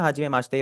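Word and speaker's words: はじめまして: Make sure that the ई इन माश्ते is silent. ठीक है? तो ये आपका सिमिलर साउंड करेगा माश्ते से। माश्ते। बीच वाला ई हट ही गया है।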